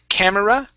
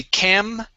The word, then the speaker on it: camera: Instead of camera, okay, this E is not pronounced. We say camera.